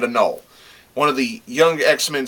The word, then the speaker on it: Anole: is on them and particularly anole or ainoli or i call him i pronounce it a null one of the young